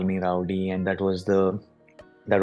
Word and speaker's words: RWDY: culture okay okay uh are we going to pronounce it as Rowdy or rwdy what is it we'll call it Rowdy we'll call it Rowdy simple so what's the story